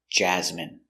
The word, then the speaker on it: jasmine: Pronunciation, jasmine. Ja. Z. Jazz. Jasmine. Jasmine. Jasmine. Stress the first syllable.